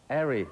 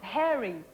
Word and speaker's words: hairy: Airy. Hairy. Airy. Oh, yeah, but you pronounce the H.